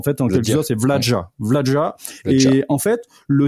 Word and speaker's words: Vlaada: Apparemment déjà il faut il faut mettre un J entre le D et le A là. Enfin donc ça dire c'est Vladja en fait en quelque sorte. C'est Vladja.